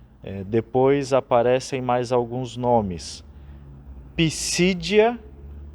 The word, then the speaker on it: Pisídia: Pisídia, com acento no I do meio, no segundo I, e Panfilha, também com acento no primeiro I.